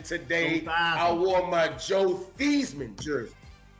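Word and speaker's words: Theismann: I wore my Joe Thman jersey. No, no. People don't understand the original the original pronunciation. His name is Thesman. They changed the to rhyme with Heisman.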